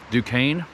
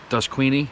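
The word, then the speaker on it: Duquesne: Dukane, but it's spelled like Dusqueeny.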